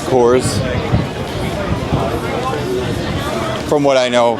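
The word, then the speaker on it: Kohr's: It is kind of confusing, but that's how it's pronounced, Coors.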